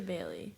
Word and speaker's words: Bailee: I say Bailee. Bailee. Like bail me out of jail, Lee.